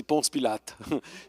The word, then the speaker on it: Ponce Pilate: Because in French it's Ponce Pilate.